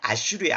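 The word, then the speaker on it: אשור: 근데 아시리아의 원래 히브리 발음이 아슈르예요. 아슈르.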